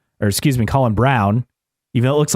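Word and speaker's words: Colin Braun: on top ELO cast NIS Tom Blomquist and Colin Brun or excuse me Colin Brown even though it looks like Brun it's pronounced Brown always throws me off they won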